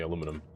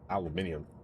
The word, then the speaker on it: aluminum: aluminum. The correct way. There's only one way to say aluminum. Not that horrid word of aluminium.